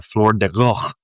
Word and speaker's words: Floor de Goede: I'm mispronouncing the G too. I mean, every Dutch person who would ever hear that G, it's like, I don't understand what you're saying.